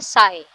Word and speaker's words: psi: इस सिंबल का नाम है साई, इसको हम साई फंक्शन कहते हैं और इसकी स्पेलिंग है PSI, ठीक है।